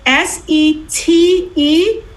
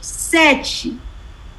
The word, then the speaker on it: sete: So it's S-E-T-E. And in Portuguese, if you have a T in front of an E or an I, the T is usually pronounced like a ch, like CH. Sete.